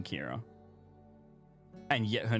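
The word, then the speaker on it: Kirah: Estimation Kira is spelled Estimation K-I-R-A-H.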